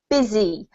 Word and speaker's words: busy: we actually pronounce it busy with the Z sound and an I sounding vowel which is really strange